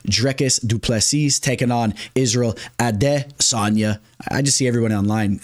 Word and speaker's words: Adesanya: follow the lead there everyone's referring to him now as ad Sonia instead of Israel out of Sona I guess that's the actual pronunciation but this fight is